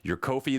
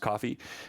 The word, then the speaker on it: Ko-fi: I was on your Ko-fi today, which I learned last week is not pronounced coffee, and you've got all kinds of free content on there.